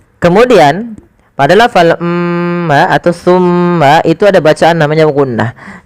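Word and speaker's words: ثُمَّ: Maka langkahnya adalah ujung lidah kita tempelkan dengan gigi sari kita. sa si su maka summa. Kemudian pada lafal mma atau tsumma itu ada bacaan namanya ghunah yaitu suara mimnya ditahan sepanjang dua harakat.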